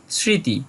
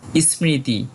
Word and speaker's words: স্মৃতি: সঠিক উচ্চারণ করব স্মৃতি আমরা জানি শিক্ষার্থী বন্ধুরা যদি সংস্কৃত ভাষায় যুক্তবর্ণটা প্রথমে থাকে তাহলে প্রথম বর্ণটা যে অর্ধেক উচ্চারিত হবে সেই প্রথম বর্ণটা উচ্চারণ করার জন্য একটা স্বরবর্ণের সাহায্য নিতে হয় যেমন আমরা বলি স্কুল স্পর্শ ঠিক সেরকম স্মৃতি এখানে একটা স্বরবর্ণের সাহায্য নিচ্ছে এবং স্বরবর্ণটা সাধারণত রসই হয়ে থাকে দন্তস টা যে অর্ধেক